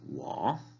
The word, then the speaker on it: 我: Yo se dice 我, 我. Está en primer tono, en tercer tono, perdón. 我 se indica aquí con este acento. Es un tono de abajo hacia arriba.